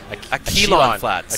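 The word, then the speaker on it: Akilon Flats: No, how do we pronounce it? Aquilon Flats.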